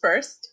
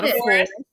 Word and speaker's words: Foerst: Uh my last name is pronounced first like first, second, third, fourth. Uh it uh is Germanic Austrian. Uh yeah. So there we go. I forest.